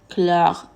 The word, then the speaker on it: chlore: Mais attention au mot chrétien, chlore et choléra, qui se prononce avec une K.